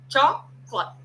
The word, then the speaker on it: chocolate: Choclat. Chocolate. Uma palavra que teria três, quatro sílabas vira uma só.